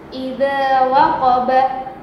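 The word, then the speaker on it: إذا وقب: Perhatikan, idza waqaba, ya. Setelah diwakafkan, jadi cara bacanya idza waqab, ya.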